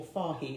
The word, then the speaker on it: Fage: longer so I like this one which is Fage or fari as we are told wom me to pronounce it that's got 10 G